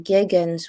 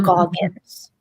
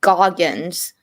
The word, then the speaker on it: Goggins: Everybody keeps saying Walter Giggins, Walter. Even I am ashamed to say I get into that kind of thing where I can't pronounce his name right. Walton Goggins. Walton Goggins.